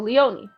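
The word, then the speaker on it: Léonie: pronouncing it wrong excellent Leoni Leoni oh my God I kept saying liony I'm so sorry okay so Leoni I'm going to go over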